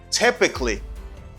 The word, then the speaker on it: typically: Because you see and you know now how to pronounce it because it is clearly written on the board. You can say it very well.